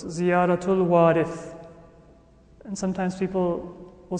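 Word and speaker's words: وارث: The ziyarah that's recited afterwards is ziyaratul warith. Right? not waritha. Waritha is feminine. And Imam Hussein, for whom the ziyarah is recited, was a man. So it's ziyaratul warith.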